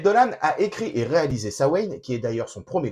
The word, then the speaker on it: Samhain: au cinéma ça mène mais on le prononce sawen en irlandais un film horrifique et